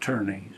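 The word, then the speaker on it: Tönnies: fellow named Ferdinand turnes t o n n i s pronounced turnes in German that fer Ferdinand turnes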